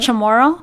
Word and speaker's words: Chamorro: and my dad is Chamorro okay what is that again pronounce it tomorrow tomorrow oh okay so that's